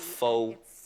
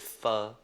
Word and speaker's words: pho: it's a Vietnamese pho it only takes pronouncing it wrong not faux it fur I'm doing it with